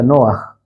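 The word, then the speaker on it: נח: Esta es la palabra hebrea que aquí se pronuncia Noaj.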